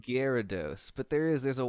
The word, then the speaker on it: Gyarados: and he'll know that he'll know the real pronunciation perfect gyarados it means terrible fish that's right exact that's